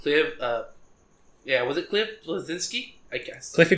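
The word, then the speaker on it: Bleszinski: Was it Cliff Blazinski? I guess. Cliffy B? Yeah, I can still never say his name right. I mean, it's Cliff Blazinski, but everyone just calls him Cliffy B.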